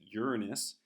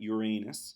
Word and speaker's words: Uranus: astronomer he actually discovered Uranus and we're gonna pronounce it Uranus not Uranus he was actually going to name Uranus georgium